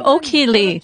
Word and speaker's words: Ok-Hee Lee: hello i'm royal master o'keeley i do it because you always call me royal master hello i'm crown master o'keeley sometimes i say it like this i'm okie lee who went from an